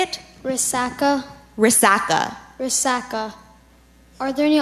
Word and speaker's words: resaca: the word again Resaca can you say it Resaca Resaca Resaca are there any alternate pronunciations I just have Resaca now the definition